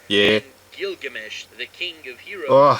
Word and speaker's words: Gilgamesh: Yeah, what's driving Garo, or Crollo, or Kira, or Gilgamesh, which is the correct way to pronounce Gilgamesh.